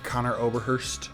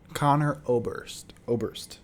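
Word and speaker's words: Conor Oberst: Better Oblivion Community Center by Connor Oberhurst. Is that how you say his name? Connor Oberhurst? Connor Oberst? Connor Oberst.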